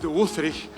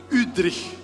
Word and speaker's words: Wüthrich: So normally Udri is a Swiss name. I used to call it Wri but he always correct me. He says the right pronunciation is Udri.